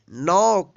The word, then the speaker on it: knock: KNOCK, नॉक।